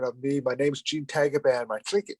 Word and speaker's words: Tagaban: My last name is Tagaban. In the Philippines, it's pronounced Tagaban.